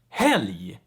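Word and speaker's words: helg: explain so for instance r plus g and l plus g they make the g also pronounced like yi so for instance we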